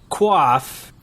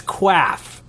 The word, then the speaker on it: quaff: You say quaff, and I say quaff, because actually when I clicked on the little thing on how to say the word that you're talking about, it is quaff. But you might be saying quaff, but it really just comes out quaff.